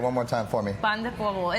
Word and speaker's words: pan de polvo: My husband's grandmother, had a pan de polvo, recipe that she had. I'm a white boy. Slow that down. Say it one more time for me. Pan de polvo.